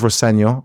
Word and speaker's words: Rosenior: My dad says Rosenior, which is the way to pronounce it.